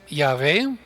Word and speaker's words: Yahvé: Unos lo pronuncian Jehová, otros lo pronuncian Yahvé. Los judíos nunca lo pronuncian porque es santo.